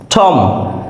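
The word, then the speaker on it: tomb: B lamp lamp means ভেড়া এখানে বি এর উচ্চারণ হয়নি টম টি ও এম বি টম that means সমাধি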